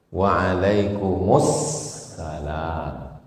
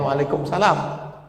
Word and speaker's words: Waalaikumussalam: Makanya kalau kita diucapkan orang assalamualaikum. Waalaikumussalam. Waalaikumsalam. Jangan waalaikumsalam.